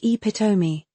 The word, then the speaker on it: epitome: Epitome sounds like epitomi.